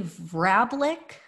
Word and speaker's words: Vrablic: quizzical loans to Trump, were Rosemary Vrablic, I believe is how you pronounce it, and Dominic Scalzi.